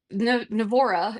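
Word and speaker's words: NAVORA: And so Nav'ora is what Nevada Off-Road Association goes by. I know it's confusing. Vora, Nav'ora, whatever. It all rhymes with Laura.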